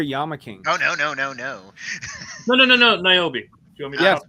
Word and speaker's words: Niobe: Niobe.